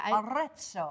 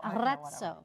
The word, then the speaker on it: Arezzo: Roll your R. Yeah, Arezzo. Arezzo.